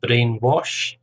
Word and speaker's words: brainwash: to speak your mind brainwash two syllables based on the first syllable brainwash a brain child brainchild